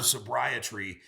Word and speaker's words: SobriTree: SobriTree, like sobriety, but sobriety. Tree is tree of life. Exactly. And you have to have really strong roots. And the goal of SobriTree is to create so